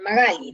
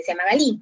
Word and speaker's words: Magali: por ejemplo, a mí, yo me llamo Magali, ¿no? Pero tenía un profesor suizo que me decía Magali. Entonces, él no pronunciaba bien mi nombre y continuamente decía Magalí, Magalí. Entonces, yo tenía que, ya todavía muy chiquilla, yo tenía que decidir o soy Magalí o soy Magalí, ¿no?